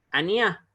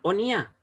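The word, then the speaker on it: אֳנִיָּה: O perdón, onía, onía, es una kamaz igual, pero esta es una kamaz katán, es una kamaz pequeña, suena como una O, o sea, se pronuncia ahí onía, ¿ya?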